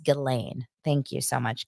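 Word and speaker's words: Ghislaine: singing their song the cutest thing oh it's pronounced gillain thank you so much gilain elain Maxwell so what I find interesting about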